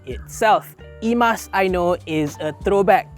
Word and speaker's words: eMas: This eMas 7 is just the first of many more